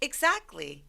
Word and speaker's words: exactly: 이 EX로 시작하는 단어들이 다양한 소리를 가지고 있는데 이 exactly 같은 경우는 eggs 이렇게 gs 이 소리를 가지고 있어요. 내 말이 그 말이야 라고 할 때 exactly 이렇게 표현할 수 있죠. 자, 같이 발음 한번 해볼까요? exactly 그래서 T 삭제.